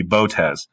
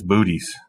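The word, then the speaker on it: Boötes: Tes now you know legit astronomers you know professionals mature human beings might pronounce this the proper way which would be botes but folks folks let's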